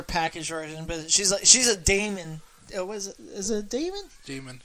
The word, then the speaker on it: DAMON: It's DAMON, so it's got to be fucking Daemon.